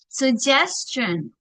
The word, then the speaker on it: suggestion: one of course suggestion ini bacanya suggestion suggestion jadi bukan suggestion no tapi bacanya se suggestion jadi antara u sama e suggestion Jadi bukan se bukan su tapi se sugestion artinya saran.